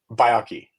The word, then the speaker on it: Baiocchi: How do you say it? Byaki. Biaki. Yes. Okay. Baki.